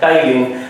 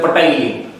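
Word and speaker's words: ptyalin: टाइलिन। Silent है पी, नहीं तो कुछ लोग हमारे हिंदी मीडियम वाले पहले बोलते थे पटाइलिन, ठीक है, कोई ना।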